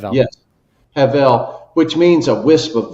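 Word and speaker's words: הבל: Heav. Yes. Havel, which means a wisp of vapor.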